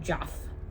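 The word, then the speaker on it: Geoff: you pronounce oh and I pronounce it Joff that's how they pronounce it his name is Jeff and the dragon in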